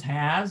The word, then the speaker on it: has: And you can hear the sounds, has, and you may go, huh, I would have expected a Z, but no, there are plenty of words where the S at the end makes a Z sound, aren't there?